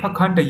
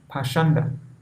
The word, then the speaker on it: pakhanda: The word pakhanda used in this verse is sometimes pronounced pashanda.